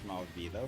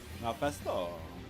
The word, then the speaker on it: Mephisto: Funny enough, somebody pronounced it as Malvito from Spider-Man. The heck? Mephisto. How could you get that Malvito from it?